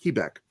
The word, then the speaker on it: Quebec: In the Army, we pronounce that Quebec.